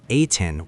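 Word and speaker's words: A'TIN: When the fandom name Ain was officially announced in November 2019, it carried meaning beyond branding. Pronounced like 18, it symbolized that fans come before SB19 because 18 comes before 19.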